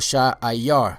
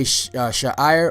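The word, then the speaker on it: שעיר: You know, there's sometimes it's spelled Sha'ir, but in most places I saw it spelled Sha'ayar. Sha'ayar. You know, so whether you say Sha'ir or Sha'ayar, the word Sha'ayar means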